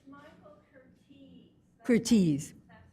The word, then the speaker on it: Curtiz: Curtiz. That's how you pronounce it.